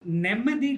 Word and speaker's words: Nemmadi: You pronounced Nemmadi correctly.